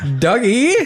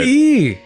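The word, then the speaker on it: Dugee: Like Doug, spacey e or douggee? I've never had to spell it being an eagle. So, I'm going to say d u g e e if I had to put letters to it.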